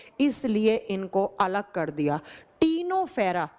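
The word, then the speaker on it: Ctenophora: टीनोफेरा लिखा जाता है सी से। प्रोनाउंस किया जाता है टी से। टीनो फेरा फेर्रा।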